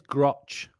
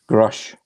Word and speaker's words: Grusch: you pronounce his surname grush Crush like like frosh yep that's the one right I remember that it rhymes with Rush Crush I'm sorry David